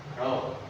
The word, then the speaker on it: rho: P itu tekanan kalau dia kayak gini itu bacanya rho Ya rho dimensinya itu ML m m M